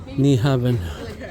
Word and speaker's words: Nyhavn: New Heaven Waterfront this entire street is called knaben n y h a BN that's the American pronunciation take it or leave